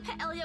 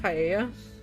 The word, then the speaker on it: paella: you know I can cook a mean paleo with my eyes closed all my siblings love it isn't it pronounced paella is it not I have